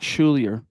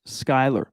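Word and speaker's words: Schuyler: according to the producer it's not schulier it's pronounced skyler my bad i won't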